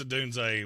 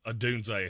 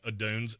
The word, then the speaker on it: Odunze: DNA Tooth Podcast said Odunes. Yeah, I thought it was the same thing. It's not. The pronunciation guide came out. There is a hard Z at the end of his name.